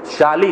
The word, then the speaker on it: شالی: شالی کہتے ہیں اسے، ہاں تلفظ صحیح رکھیے گا، شالی کہتے ہیں، شین سے ہے۔ تو جو بوئے گا